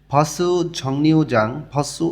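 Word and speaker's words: 정류장: ঝাজনগ cycle অথবাই motorcycle ঝংনিউজাংসু অথবা ঝাংনিউ জাং young বাচ্চিমের পরে যখন রিউল আসে তখন রিউলটা ন উচ্চারণ হয় ঝাংনিউ জাং অর্থ স্ট্যান্ড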